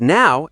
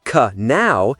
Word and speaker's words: know: For example, saying k now instead of no is a big giveaway that you're not used to English pronunciation.